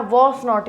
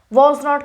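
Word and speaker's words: wasn't: Next है आपका वॉज नॉट, यहाँ पे भी टी, यहाँ T silent, silent, silent, silent, ठीक है, इतनी जगह आपका टी साइलेंट रहेगा। वॉज नॉट की जगह क्या हो जाएगा?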